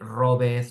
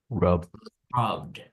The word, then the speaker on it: rubbed: For example, you would say, instead of robeth, you say Rub. rubbed.